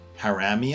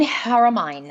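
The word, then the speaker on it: Haramein: know the physicists and I always say his name wrong but Nasim harami an Iranian nothing Hara mine Hara mine thank you for that yes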